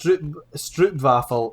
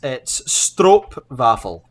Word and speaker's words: stroopwafel: Yeah, so it's not actually pronounced stroopwafel. It's stroopwafel.